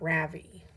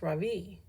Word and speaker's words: Ravi: "My name is not Ravi," he says. "It's pronounced Ravi.